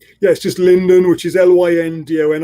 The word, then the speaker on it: Lyndon: has so that's comms comm sbar comms bar linden already gave you his email address but do it one more time London yes just linden which is ly India and I'm fortunate to